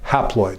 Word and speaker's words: haploid: And the half number of chromosomes kind of rhymes with the word half, or it begins with the same prefix. It's called haploid.